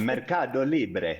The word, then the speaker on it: MercadoLibre: So, Zenati, you need to say it with the Spanish accent. Okay. Mercadolibre.